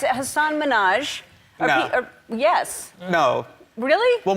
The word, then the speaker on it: Hassan Minhaj: everyone that says your name says Hassan Minhaj. Yeah, but the real way you pronounce it, and this is a big deal because my parents are here, it's Hassan Minhaj.